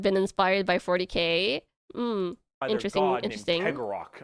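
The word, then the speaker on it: Cegorach: Geggorath, I believe is how you pronounce his name.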